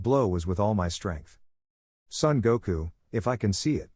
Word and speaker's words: Son Goku: enough well I have to try even harder Son Goku that's how you say it but we have